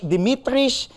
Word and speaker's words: Dimitris: man himself there he is uh head coach Dimitris I hope I can say this right coach